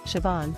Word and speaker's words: Siobhan: a special name that often leaves people puzzled Shon in this video we'll break down the pronunciation of Siobhan and provide you with some tips to help